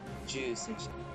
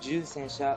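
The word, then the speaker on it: 重戦車: Heavy tank is Ju Sensha. Ju and Chu are different. They sound very alike, but if you want to pronounce these correctly, it's Chu Sensha for medium and Ju Sensha for heavy tanks.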